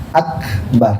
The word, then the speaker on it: akbar: Kalau kapnya itu diganti kop menjadi kuburan. Nah, makanya nggak boleh dipastikan. Terus gimana Pak Ustaz cara nyebutinnya? Harus diucapkan kalimat kap secara sempurna, ada hamsnya namanya. Gimana caranya? Allahu akbar. Nah, begitu ya. Jadi jangan akbar.